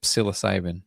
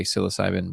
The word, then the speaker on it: psilocybin: There's a a P. There's a P in there. Psilocybin. That's what it says. Why is it there? You're not using it, man.